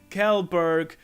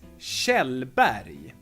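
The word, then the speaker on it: Kjellberg: versions of this and it's not for instance kelberg or something like that it's shell body K and J become Shea and the G at the end is Yi sound not a good hard good sound berry means mountain and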